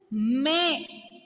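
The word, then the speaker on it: mais: Okay, without trema, pronunciation is also different. May. Pronunciation is may, and even meaning is also different.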